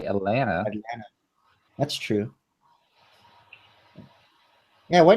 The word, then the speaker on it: Atlanta: See, that's another name that you where the T is silent. You don't say Atlanta. You say Atlanta.